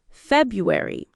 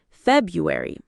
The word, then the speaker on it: February: Number 7, February. Many people drop the first R saying February. The correct pronunciation keeps the R, February.